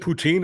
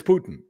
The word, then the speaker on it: Putin: of Russia you know his name isn't poutine it's Putin and that that's just